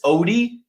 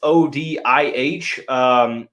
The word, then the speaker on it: Odih: Moving on to the next one is Kelvin, I believe it's Odih is how it's pronounced. It's Odih.